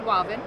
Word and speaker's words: Wavin: he liked it so he created walvin which stands for water and vinyl oh okay and so